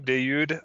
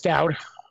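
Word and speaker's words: Dawud: It is Dowd. Dowd? Okay, I thought it was Dayoud because that's how they would actually pronounce it. Yeah, but he's in America. He's never been anywhere else but America.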